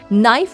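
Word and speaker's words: knife: आप समझ सकते हैं पहले नाइफ की स्पेलिंग थी के एन ई ई एफ और इसे बोलते भी थे नीफ लेकिन वोल शिफ्ट में के को साइलेंट कर दिया गया इसलिए इंग्लिश वर्ड्स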